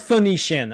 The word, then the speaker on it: Phoenician: It is Phoenician. Okay. I was like, I had it in my head. I'm like, uh, the fikanan.